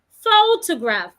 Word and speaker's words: photograph: word I have is photograph photograph in that word I'm stressing the first syllable photograph has three syllables photograph remember I should